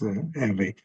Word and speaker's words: Hervé: Hopefully I'm going to mispronounce this. I apologize. Hervé? Hervé? Yes, thank you. It's Hervé.